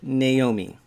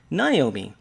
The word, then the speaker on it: Naomi: in different ways and we pronounce it naomi this is how we say her name and when she goes places uh she prefers to be called naomi but there are other people who will call her naomi and perhaps you're out there saying yeah when i see that name that's how i say it naomi well maybe the self-pronouncing